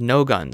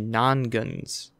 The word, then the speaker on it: Nongunz: non guns non goons I mispronounced it the first time I thought I was no guns it's actually non guns no guns I know